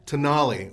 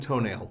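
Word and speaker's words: Tonale: yeah it is t-o-n-a-l-e that's in the italian and so you're you're the problem is that you're not thinking latin well have they met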